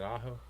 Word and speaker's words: Aho: How do you pronounce AO's last name? Is it Aaho? AO. Aho.